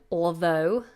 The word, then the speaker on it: although: with this word although I would say cheat the L don't say all though although it's very difficult make the L sound on the teeth all although so put the tongue out for the L although although and that makes it much easier and that's what the natives do Imran has asked for